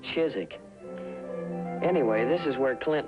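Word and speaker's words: Chiswick: BUT THEY STILL CALL IT CHIZZICK.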